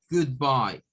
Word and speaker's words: goodbye: Tendríamos 2 sílabas, la primera es para good, esas 2 O suenan una especie de U, y bye, goodbye, goodbye. Y entonces esa YE suena a I, bye, bye.